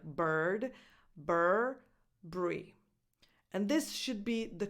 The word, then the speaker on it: Burberry: say Bri B Bri so that U is silent now in American English